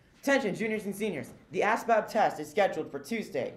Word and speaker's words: ASVAB: ASVAB, by the way, pronounced as fab, is very important.